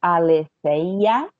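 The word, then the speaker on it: ἀληθείᾳ: Ale senha da Tiggo aleteia não se pronuncia né o iota subscrito mas a gente sabe que tem quando é dativo acusativo a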